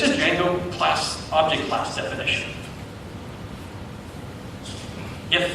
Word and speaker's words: Django: And I'm going to choose Django, the D is silent, as one example implementation for a data model.